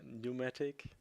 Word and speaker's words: pneumatic: it's moving the ear the p is silent so it's a Pneumatic it's nomadic yeah my